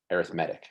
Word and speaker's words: arithmetic: but when it's used in this context we pronounce it as arithmetic it's an arithmetic sequence so you can see here we have